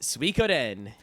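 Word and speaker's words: Suikoden: pronounced wrong which is s UI k o d n Soden it's Soden all right I got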